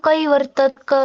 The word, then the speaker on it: कैवर्तकः: कैवर्तकः हो उच्चारण कि कैवर्तक कैवर्तकः उच्चारण गरे पनि हुन्छ, कैवर्तक केशव यसरी उच्चारण गरे पनि हुन्छ। त्यो किन त्यस्तो गरेको रे हामीले मतलब यो के भन्नुभएको थियो नि अघि क र ख को अगाडि आएको जुन विसर्ग हुन्छ, ठिक छ, हजुर सुन्नुभएको छ?